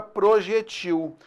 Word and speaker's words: projetil: Primeiro observar o seguinte, as palavras e nesse caso existe a palavra projétil e existe a palavra projetil. As duas pronúncias estão corretas.